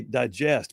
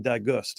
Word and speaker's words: digest: I just realized Red is trying to say digest, but he keeps saying digust.